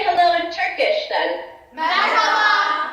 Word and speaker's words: Merhaba: Merhaba. Merhaba.